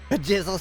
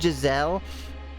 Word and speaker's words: Giselle: Jizzle smokes a pack a day. Also, the story there is that I know her name is pronounced Giselle, but just Akira gets the name wrong.